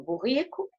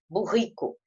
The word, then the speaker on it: burrico: Toda palavra, quando tem dois R's, o R forte, existe uma pronúncia regional. Tem regiões do Brasil que falam o R na garganta, burrico. E tem outras regiões que falam o R mais assim na língua, né? Burrico.